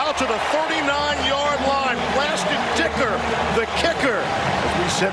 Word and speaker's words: Dicker: And again, that's Dicker. Just happens to rhyme with kicker.